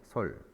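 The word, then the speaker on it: 率: 솔. 자, 솔자는 선생님이 여기다가 좀 적어 두었습니다. 거느리다라고 해석을 할 때는 솔이라고 읽어주고요. 이 글자가 비율이다라고 해석할 때는 율이라고 읽어줍니다.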